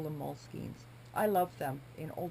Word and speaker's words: Moleskine: I've heard so many different ways to say it. I believe it's moleskina if you're being correct, but I could be wrong there as well.